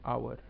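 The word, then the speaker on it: hour: ही एन आवर एन आवर एन आवर अब आवर में H silent होता है और आवाज सिर्फ आवर की आती है तो हम बोलते हैं एन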